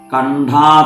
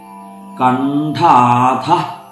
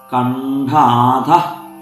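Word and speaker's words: കണ്ഠാധഃ: കണ്ഠാഥ കടിപര്യന്ത മധ്യകൂട സ്വരൂപിണി അവിടെ അഥ എന്നുള്ള വാക്കിനു ശേഷം വിസർഗ്ഗം ഉണ്ട് അപ്പൊ അത് ശ്രദ്ധിച്ചു ഉച്ചരിക്കണം കണ്ടാ കടിപര്യന്ത എന്ന് ചിലർ ചൊല്ലി കേട്ടിട്ടുണ്ട് അങ്ങനെ ചൊല്ലരുത് കണ്ടാഥ കണ്ഡാഥ കടിപര്യന്ത മധ്യകൂട സ്വരൂപിണി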